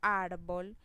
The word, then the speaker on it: árbol: Si yo digo árbol, la mayor fuerza en esa palabra la hago en la sílaba ar.